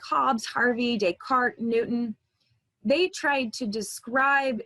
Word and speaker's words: Descartes: it's probably a name you've heard before it's pronounced Descartes he was a French philosopher and mathematician he